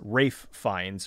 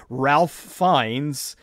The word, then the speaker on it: Ralph Fiennes: Like, I mean, if now I know his name is Rafe Fiennes, or at least that's how he pronounces it, but if I was somebody who had never heard of the guy before, I would say, Ralph Fiennes, and people, oh, that's not how you pronounce his name.